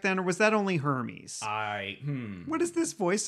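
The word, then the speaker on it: Hermès: joking i don't know i just know that they're pronounced Hermes and when they were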